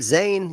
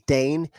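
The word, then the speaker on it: Dane: said Dave like man my name is danne it's spelled D NE like a great Daye like a dog but it's okay man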